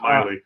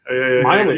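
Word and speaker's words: Meili: And NDP leader Ryan Mealy or Melly, I'm not sure how you say it. Miley. Miley. Yeah, I keep thinking of Cyrus and then it keeps it in the head.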